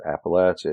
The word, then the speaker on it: Appalachia: would say well my my preferred pronunciation is Appalachia it just feels more courageous and and as I understand it it is closer to the root word which is comes from